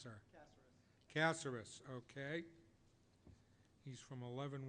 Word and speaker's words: Caceres: How is it pronounced, sir? Caceres.